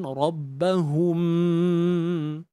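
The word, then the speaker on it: ربهم: Mim mati jumpa ba, hukum di sini ikhfa syafawi. Cara baca dia, kita tutup bibir cuma tanpa tekanan yang kuat. Dan pastikan dengung dengan kadar dua harakat itu berlakulah pada hidung kita.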